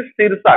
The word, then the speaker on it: सिरसा: यहां पर बेटा सिसरा लिखा हुआ है लेकिन आप इसको प्रोनाउंस करेंगे सिरसा, कहीं कहीं सिरसा मिलेगा, कहीं कहीं सिसरा मिलेगा, ठीक ना बेटा। वो रीजनल लैंग्वेज का फर्क है, बस जगह तो एक